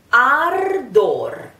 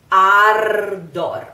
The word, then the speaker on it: ardor: Okay, we have a sounding R at the end of the word.